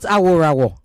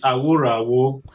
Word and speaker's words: Aworawo: It's not Aworawo. It is not Aworawo. It is Aworawo.